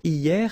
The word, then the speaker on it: hier: Hier means yesterday, okay? Hier. So remember, this H here is not pronounced, okay?